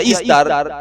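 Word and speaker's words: Ishtar: Así que entramos a otra diosa que se le llama Istar o Istar, se pronuncia Istar, que es la reencarnación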